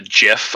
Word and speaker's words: GIF: It's GIF. I'm calling it GIF. Like it should be. GIF. I am the DM. God says that it is GIF. In this world, it is pronounced GIF.